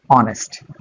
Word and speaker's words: honest: অনেস্ট। অর্থাৎ এখানে ও থেকে অনেস্ট শব্দটা উচ্চারণ হয়, এসটা উজ্জ থেকে যায়, অনুচ্চারিত থেকে যায়।